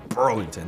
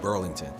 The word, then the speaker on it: Burlington: You gotta say it like, you gotta scrunch up your face a little bit when you say it like, it's really Burlington, not Burlington. But yeah, I'm from here,